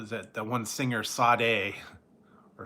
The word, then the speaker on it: Sade: The one singer, Sade, or Sade. It's spelled S-A-D-E. I don't know where they get the R out of it.